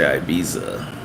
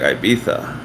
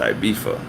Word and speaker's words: Ibiza: then I realized that because Spaniards say like Ibiza and because British people say th as an F they would take Ibiza and turn it into ibifa and they just all say it like that and it's normal